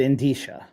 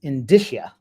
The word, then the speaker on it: indicia: how they're said uh I have always said in Tisha that's how I always pronounce it in disha I'm pretty good with